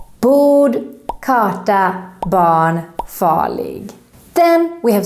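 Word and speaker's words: barn: r is silent and if the r is followed by an n it's totally gone for example in this word bon bon is how is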